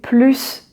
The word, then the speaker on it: plus: Then it is positive, a positive meaning, you want more, so you are going to pronounce the final S, and so you say je veux manger plus de chocolat.